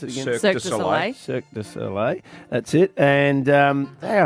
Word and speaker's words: Cirque du Soleil: The how do you pronounce it again? Cirque du Soleil. Cirque du Soleil.